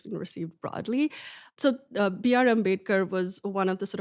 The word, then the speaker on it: Ambedkar: You speak about Dalit leaders, I hope I'm pronouncing his name correctly. Ambedkar.